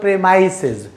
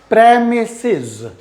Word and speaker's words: premises: सो इट इज़ नॉट प्रेमाइसेस, इट इज़ premises, premises, premises।